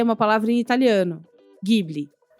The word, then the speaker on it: Ghibli: uma palavra em italiano, Ghibli. Esse GH tem som de GU brasileiro.